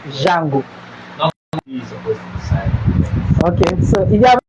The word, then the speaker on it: D'Jango: Okay, I call it JANGO because that's how they pronounce it. JANGO.